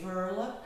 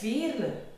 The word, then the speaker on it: Veerle: or England or the UK or America say ver but it's ver it's a typical flamish name and it's very